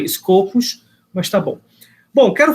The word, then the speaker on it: Scopus: que faz os copos Na verdade o pessoal pronuncia escopos Mas tá bom bom